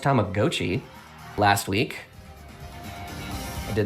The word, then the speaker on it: Tamagotchi: Tamagotchi, I found out it's pronounced Tamagotchi last week.